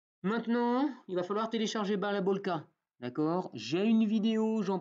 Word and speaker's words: Balabolka: Ça s'écrit Balabolka, ça veut dire moulin à parole en russe.